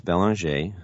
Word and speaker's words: Belanger: Bell RJ I like to pronounce it the French Way and I am a